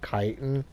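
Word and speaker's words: chitin: that ier okay so the chitten or uh kiten you might say chitten kiten I don't know how you pronounce it it says CH and to me I says but I guess it's supposed to be pronounced kiten whatever I you don't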